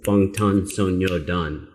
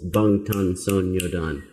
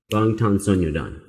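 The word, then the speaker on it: 방탄소년단: and hearing how they really put a little space between each syllable. Bangtan Sonyeodan. I was like, Bangtan Sonyeodan? But I guess you need a little less space between the syllables. Bangtan Sonyeodan.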